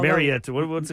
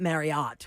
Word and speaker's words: Marriott: Whatever it is Marriott Marriott, not Marriott. We learned that it's Marriott. We're saying it wrong.